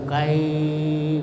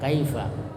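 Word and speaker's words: كيف: ya mad lin itu Mad artinya panjang Lin artinya lunat jadi panjangnya itu lunat jadi tidak dipanjangkan Tapi di baca dengan lunak yaitu Apabila ada huruf ee fathah kemudian Ya Sukun sesudahnya atau fathah dan sesudahnya itu wau sukun umpamanya Kaifa jadi tidak bisa dipanjakkan itu kaaia ya Kaifa Kaifa kemudian ilaihi yaitu dibaca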